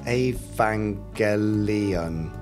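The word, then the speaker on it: Evangelion: Jerry Anderson oh and it's pronounced a vangelion yes we know we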